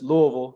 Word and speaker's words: Louisville: did you get to Louisville? And then we're gonna need a Rick Pitino recruiting story. Yeah, so I gotta correct you. It's Louisville. You gotta say it like with your mouth full of food, man.